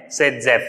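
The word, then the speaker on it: Saytzeff: वैसे नाम इसका जेडजेफ है लेकिन हम इसको प्रोनाउंस करते हैं सेडजेफ रूल।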